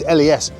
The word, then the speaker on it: les: So it's les, but you don't pronounce the s unless the word is succeeded by a consonant.